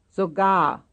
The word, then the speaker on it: sogar: 11, sogar, Sogar. sogar, Second syllable.